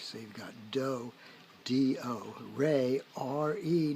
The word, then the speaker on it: re: So you've got do, D-O, re, R-E, not R-A-Y, which is the way it's spelled in the do-re-mi song from Sound of Music, but whatever.